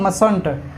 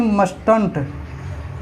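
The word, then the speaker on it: mustn't: ये मस्ट नॉट है, इसका होता है मसंट। क्या होता है? मसंट। ये नहीं कि मस्टंट।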